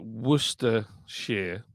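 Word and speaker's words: Worcestershire: wer Shar SCE but if you just say wer share wer sh it's all right uh Andrew says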